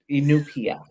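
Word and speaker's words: Iñupiaq: what is it, the Inupiaq. It's Inupiaq. spelled Inupiat. There you go. That helps. It does not, but Inupiaq.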